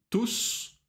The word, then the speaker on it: tous: Chacun, certaines, tous, toutes, tout. Обращай внимание на произношение. Tous, T-O-U-S, S читается, тут в женском роде и ту в единственном числе через T, когда мужского рода.